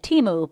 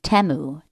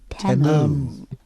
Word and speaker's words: Temu: We all realized we were pronouncing it wrong. I know. Apparently, it's what? Okay, so we all always said Timu, but they were saying Temu. Temu. Like Shamu. Temu.